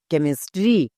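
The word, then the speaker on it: chemistry: কেমিস্ট্রি।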